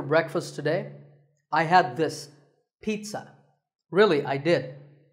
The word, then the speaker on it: pizza: today I had this pizza really I did it's not a pizza and it's not a pizza there's no sound in this word it's Pete son pizza another food word that's